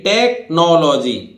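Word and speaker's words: technology: देखिए टेक्नोलॉजी तकनीकी विज्ञान, ठीक है, यहां भी एच क्या है? साइलेंट है।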